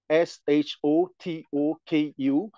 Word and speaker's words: Shotoku: want to name Prince shotoku s h o t o KU and shotoku is the is the the right pronunciation in Japanese and it's come from